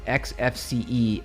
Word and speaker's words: Xfce: Yo, uh, it's Windows manager and pronounced XFCE, like the letters.